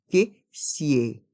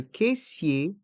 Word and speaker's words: caissier: et le son r à la fin se prononce ensemble cissère siè le caissier la caissière le caissier la caissière un sac à provision un sac